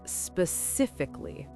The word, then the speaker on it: specifically: The correct pronunciation is specifically. Wait, can you say that again? Specifically. The stress is on the second syllable. Cif. So, let's break it down. The first part is sp. Really quick and soft. Then sif. This is the stressed part. So say it louder and stronger.